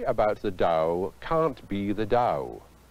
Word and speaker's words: Tao: but what is the dow in western spelling its ta o though it's pronounced Dow I've seen it translated